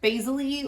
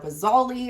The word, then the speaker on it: basale: Last but not least, we have the stratum basale or basale. I've heard it pronounced both ways.